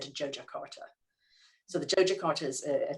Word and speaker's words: Yogyakarta: It looks like Yogyakarta, but it's actually said Yogyakarta.